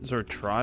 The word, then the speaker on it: trie: So a try, pronounced as a try, prefix tree is a data structure used to efficiently store and retrieve keys and datasets.